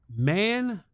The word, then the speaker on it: Mando: It's pronounced Mando.